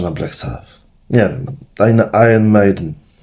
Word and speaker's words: Iron Maiden: Taj na Iron Maiden. Tak się to powinno wymawiać jakby co, nie? Iron Maiden. Iron, angielski się kłania.